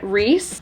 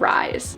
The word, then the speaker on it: Rhys: I included this in I was pronouncing his name wrong the whole time so I apologize I do think it is Rhys instead of Rise so sorry but yes